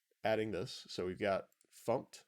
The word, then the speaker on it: fmt: So we've got fumped, fmt, often pronounced fumped, and then we can go to, or we use the print line method right there, and we print hello world.